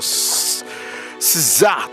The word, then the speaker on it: SZA: SZA, that's how you pronounce her name, of course.